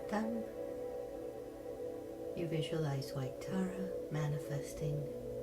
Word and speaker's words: Tam: We're going to pronounce Tara's seed syllable, Tam. And you can visualize a syllable in the center of her chest, or you can just visualize a pearl of emerald green light. Tam.